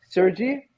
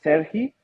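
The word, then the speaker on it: Serhii: So you could pronounce it three different ways. Well, two different. You could call it Sergei, or if you want to be like really like super into it, you can call it Serhi.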